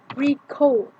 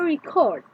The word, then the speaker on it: record: If the stress is on first syllable, look at the examples. To record. A record.